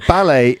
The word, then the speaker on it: ballet: broom how confusing but ballet has got a t at the end which is not pronounced in either version British or American English which again makes us think